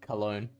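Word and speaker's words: Oinkologne: I've gone to a Pokemon pronunciation guide. It is Cologne.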